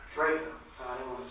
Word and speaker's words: Drejka: Interview will be concluded with Michael, pronounce your name? Drejka. Drejka.